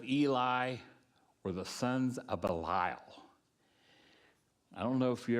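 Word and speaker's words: Belial: Paul says uses balile.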